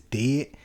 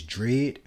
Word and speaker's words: Dread: I always want to pronounce it as Dead, but it's Dread.